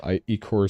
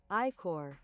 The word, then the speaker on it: iCore: eCore systems, eCore. How do you pronounce this? I'm pulling out the translator. Translate. No, other way around. English. iCore. iCore. Okay, it's not eCore, it's iCore.